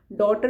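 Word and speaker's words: daughter: डॉटर में जी silent है।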